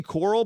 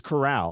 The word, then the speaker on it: Corral: to lower coral and i always say coral but apparently it's corral all right pronouncing it